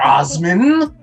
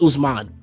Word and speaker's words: Usman: Osman. Okay? Yeah, he pulled out the government. It's not your time. Say it right. It's Usman.